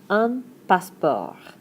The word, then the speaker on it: passeport: Probably have this one right away, un passeport. Passe- portdon't get to do much with that "e."